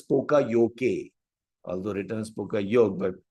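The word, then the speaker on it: poka-yoke: Pronounced as pokayoke, although written as pokayoke, but pronounced as pokayoke.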